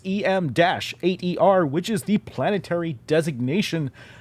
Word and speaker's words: Em8er: or mater or the various ways that people are pronounced it but it's em-8er which is the planetary